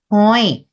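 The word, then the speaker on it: ຮ້ອຍ: Từ trăm tiếng Lào nói là hoi.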